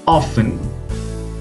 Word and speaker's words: often: This time the letter is T. Often, Nestle, butcher, hustle, listen. Here, we haven't pronounced the letter T.